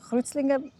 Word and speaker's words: Kreuzlingen: Und interessant ist, dann müsste ja Kreuzlingen, Kreuzling oder so heißen. Aber Kreuzlingen heisst wirklich Kreuzlingen. Ich habe das auch ein bisschen nachgeforscht.